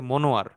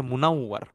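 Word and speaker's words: منوّر: অনেকের নাম থাকে মনোয়ার। এটা আসলে একটা উচ্চারণটা একটু বিকৃত হয়ে গেছে। আসলে শব্দ হচ্ছে মুনাওয়ার।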